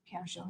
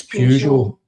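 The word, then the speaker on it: Peugeot: Pear Joe, yeah. It's Pew Joe. It's— it's spelled Pew Joe. It's even in the French adverb. Pew Joe. It's not spelled. Pear Joe. Pear. There's no R in it.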